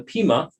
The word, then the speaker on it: Pima: Her books include two monographs, Diabetes Among, and I'm going to pronounce this right, Diabetes Among the Pima.